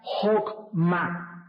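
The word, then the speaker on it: חכמה: H choc ma pero la ch al principio en el hebreo se pronuncia como J siempre que veas en el hebreo al principio ch es J Entonces se pronuncia jma y la traducción de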